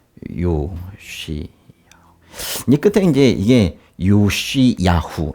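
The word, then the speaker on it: יֹאשִׁיָּהוּ: 이제 끝에 이제 이게 요시야후 이렇게 읽거든요. 요시야후. 근데 이제 끝에 이게 이제 히읗 그런 발음이 나요.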